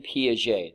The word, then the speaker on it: Piaget: pictured here on the left Swiss psychologist Jean Piaget that's how you pronounce that last name and a lot of